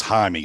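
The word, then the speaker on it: Jaimes: uh brennan it's spelled it looks like jamie's but it's jaime of course you wouldn't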